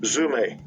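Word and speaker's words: ζύμη: Strong's G 2219, Zume.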